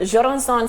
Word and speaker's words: Jurançon: Okay, let me put Jurançon sec.